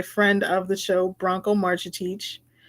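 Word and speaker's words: Marcetic: So the good bread is from a piece by friend of the show, Bronco Marchitich. That is how you pronounce his name, Marchitich.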